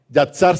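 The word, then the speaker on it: יצר: hermanos en en hebreo que se llama yazar yatsar se escribe y a t s a r yaxar Y esa palabra significa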